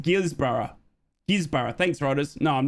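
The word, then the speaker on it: Guisborough: Okay, no, I'm from Australia, so it's pronounced Gisborough.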